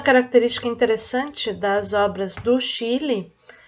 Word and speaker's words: Schiele: Se escreve Schiele, mas se lê Chile.